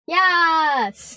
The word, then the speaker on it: yass: Yes.